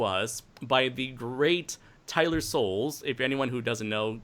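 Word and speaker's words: Sowles: design brought to us by the great Tyler Souls if anyone who doesn't know goat his name is spelt e yl er s o WL e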